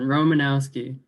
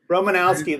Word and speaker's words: Romanowski: we have romanovsky joining us this evening i probably butchered that i'm sorry no it's good i'll take any pronunciation romanowski romanowski there you go you got it yes yes yes um